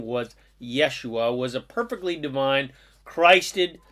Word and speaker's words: Yeshua: The truth is Jesus, whose correctly pronounced name was Yeshua, was a perfectly divine, Christed source master of pure unconditional love, just like all the rest of us are.